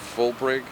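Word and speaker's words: Fuhlbrigge: It's F-U-H-L-L-B-R-I-G-G-E, and I believe it's pronounced Fulbrig.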